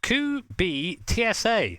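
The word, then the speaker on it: Kubica: thank you rare 80 says it's pronounced COO be TSA okay mate now I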